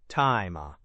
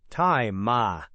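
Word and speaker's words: 大麻: Taima. Right. Taima.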